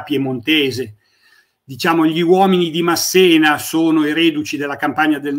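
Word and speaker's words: Masséna: Ma se no Dunque secondo me si pronuncia Massena con l'accento sulla e perché era diciamo Lui parlava anche l'italiano era italiano e però il francesi Come fanno sempre con i cognomi italiani che terminano con una vocale hanno la naturale tendenza a mettere l'accento sull'ultima lettera quindi quindi molto spesso sentite pronunciare ma probabilmente esattamente ma probabilmente l'addizione corretta è Massena Infatti io ho usato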